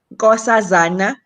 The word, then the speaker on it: Nkosazana: incred can you pronounce your name when you pronounce it as a south african gorsasana thank you beautiful name so thank you so